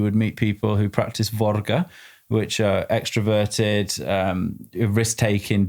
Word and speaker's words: Våga: So var or as it's pronounced properly would be vora means to dare to venture to risk.